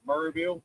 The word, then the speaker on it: Maryville: Maryville this year, I think locals call it Murrayville. Merville. It's spelled Maryville, and that's how I say it.